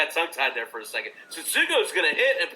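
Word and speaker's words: Tsutsugo: But with Meadows out and with, I can't say his name, you can. Say it for me one more time. Satsugo. There you go, Satsugo.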